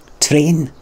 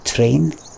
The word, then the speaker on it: train: And I say T-R-A-I-N properly, but the Scottish guy doesn't. And I'll spell it differently. But I'm actually the one that's saying it properly.